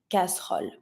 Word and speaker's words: casserole: The E that has no accent, no nothing, in the middle of a word is the E sound, casserole. But if you want to sound more natural when you say it, we tend to not skip it, but pronounce it just slightly. So instead of saying casserole, we tend to say casserole. Casserole. So you hear it, but very slightly.